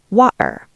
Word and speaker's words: water: In London, especially in Cockney or Estuary accents, we use the glottal stop. We cut the air in our throat. Water. Water. Yes. It is like the sound you make when you are lifting something heavy. Uh, water. The T is invisible. It is a ghost.